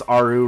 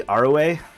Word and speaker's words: Arue: Like I've been told I pronounce Aru wrong, but like looks like Aru to me. I think it's supposed to be Arue, or if I'm going